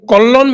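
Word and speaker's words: কল্যাণ: तो अब आप यह बताएं इसमें आपने कलन बनर्जी के भाई कोलन जो है ये बंगाली प्रोनाउंसिएशन है। वैसे कल्याण बनर्जी है वो कल्याण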